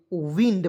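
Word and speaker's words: wind: ड के रूप में बहुत लोग कहेगा इसे वाइंड पढ़ेंगे सर वाइंड नहीं पढ़ेंगे ठीक है विंड पढ़ेंगे ठीक है और इसका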